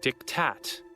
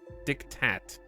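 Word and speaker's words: diktat: Chad refuse to believe it's a silent te it's because the Germans stole the word from Latin and then changed it okay and then we for some reason we just kept it the way that they changed it because it's originally from the Latin to mean something dictated and the Word was dict and now it's dictat dictat it's dictat that's how you say it dictat dick tattoo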